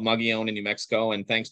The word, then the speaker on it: Mogollon: It's called Mogollon in New Mexico, and thanks for pronouncing it correctly because it's actually very difficult.